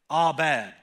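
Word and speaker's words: אבד: at the original language, the way that you pronounce that word destroyed is abad.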